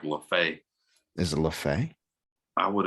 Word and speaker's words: Leffe: Lafay. You said it's Leffe? Leffe. Leffe. Exactly how they say it too.